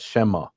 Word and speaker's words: Shema: But when they read the letters Yud He Vav He, the Samaritans pronounce that as Shema, which is a replacement for the name, meaning in Aramaic, the name.